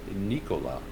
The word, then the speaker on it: Nikola: with tritium because they make the chargers for nikola or should i say nikola as the correct pronunciation goes and i know that some of